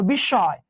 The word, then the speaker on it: বিস্ময়: দুইবার উচ্চারণ, একবার দুইবার, এই যে চন্দ্রবিন্দু। দেখো বিস্ময়, দেখো কার সঙ্গে আছে?